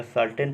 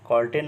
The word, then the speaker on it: certain: चाहते हैं, जैसे देखिएगा, जैसे CERTAIN, इसको क्या पढ़ेंगे बोलिए। देखिए तो यहाँ पर सी के बाद ई दिया है ना, तो सी का उच्चारण क्या हो जाएगा, यहाँ पर स हो जाएगा। सर्टेन पढ़ेंगे, कॉर्टेन नहीं पढ़ेंगे, सर्टेन पढ़ेंगे, ठीक है ना।